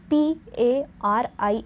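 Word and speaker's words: Paris: so you can guess the meaning and the pronunciation of it so the example let us see the example and that is p a r i s so first I'll read it the name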